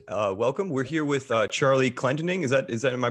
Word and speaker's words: Clendening: We're here with Charlie Clendening. Am I pronouncing that right? Clendening. It was close. Clendening.